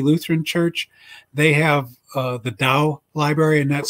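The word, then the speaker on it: Dau: book historic trinity lutheran church they have the dao library and that's spelled d-a-u and it's a library of all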